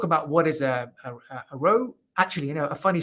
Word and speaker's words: ROWE: so everyone out there it's not pronounced rowie it's a row from now on that's good yes row